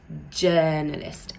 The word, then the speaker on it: journalist: Let's pay attention to the word journalist. It's not pronounced journalist or journalist. It's pronounced with a sound from bird.